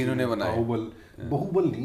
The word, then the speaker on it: बाहुबली: बाहुबल नहीं है, बाहुबल है, सॉरी प्रोनाउंसिएशन करेक्ट करें।